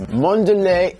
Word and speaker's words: Mondelez: Mondelez International, and that is the correct pronunciation.